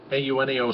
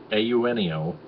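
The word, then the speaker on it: Eugenio: ahead in the on the scoreboard also shortstop auneo suarez that's how you pronounce it a you neo it's spelled e-u-g-e-n-i-o but it's pronounced ayunio suarez he's he's done pretty good as the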